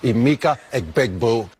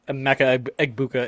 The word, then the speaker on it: Emeka Egbuka: Imika Ekbegbo. That was a great one too. Gronk not being able to pronounce Emeka Egbuka is fantastic. Emeka Egbegbo.